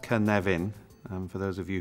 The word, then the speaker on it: Cynefin: uh this is the canavan framework uh pronounced Kavin and for those of